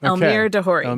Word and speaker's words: Elmyr de Hory: Elmyr de Hory. de Hory.